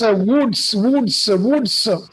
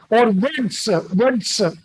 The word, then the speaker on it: Wurtz: So regarding the pronunciation of WURTZ, so you can pronounce it as woods. W-U-U, so woods or words, both are used.